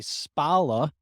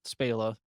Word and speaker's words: Spala: my last name correctly most people say it wrong and say spala but thank you so much for saying it spela that really got me